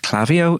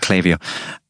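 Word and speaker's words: Klaviyo: do we use we use a tool called clavio spelled k-l-a-v-i-y-o for for ages i thought it was pronounced clavio uh i actually had to speak to the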